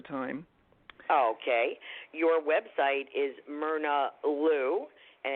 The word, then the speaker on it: Myrna Lou: It looks like my, but it isn't. So I was named for Myrna Loy, who's a movie star. Right. Full-time movie star. And it's spelled MYRNALOU, all one word. It's like Mary Lou, only this is Myrna Lou.